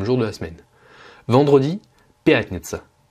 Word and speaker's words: пятница: Vendredi, пятница. Pas de difficulté de prononciation, l'accentuation elle est sur le ya, пятница, donc la première syllabe, et un autre moyen